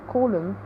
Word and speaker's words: column: And we have also silent N, like in column. We do not actually, in him, we do not actually pronounce the final N in the word.